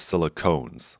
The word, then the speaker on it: silicones: some of the pronunciation the ailment is silicon the polymer is silicones like ketones so use that to